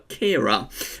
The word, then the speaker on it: Ciara: I pronounced the name wrong in the 5-day forecast. I said it was Storm Caira, it's actually Storm Caira.